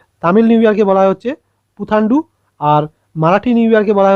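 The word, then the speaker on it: புத்தாண்டு: এবং এটার নাম অ্যাকচুয়ালি হচ্ছে পাথান্ডু বা পুথান্ডু, এরকম উচ্চারণ হবে। তামিল তো আমি উচ্চারণ করতে পারবো না ভালোভাবে, তো উচ্চারণ ইংলিশ অনুযায়ী হবে হচ্ছে পুথান্ডু, PUTHANDU, পুথান্ডু।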